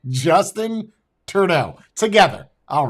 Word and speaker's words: Trudeau: Justice Purdue. It's a guy that makes chicken quickly. Justin Trudeau. That's his name. Say it with me. Justin Trudeau. Not just in time, not Justice Purdue, Justin Trudeau.